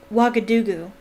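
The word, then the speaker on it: Ouagadougou: stuffed i remember something very similar happening in wagga dugu that's how you pronounce that wagga dugu turd lockhart a series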